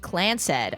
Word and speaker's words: Clance: The Clance, pronounced Clansed.